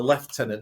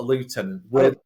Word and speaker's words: lieutenant: funny about it it's in the UK we call him a left tenant not a lieutenant right well there some to learnt right I know because it's spelled Lieutenant so we all say it but um so basically